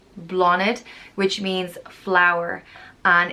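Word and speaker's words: Bláthnaid: blah there's also blonde pronounced blah knid blonde which means flower and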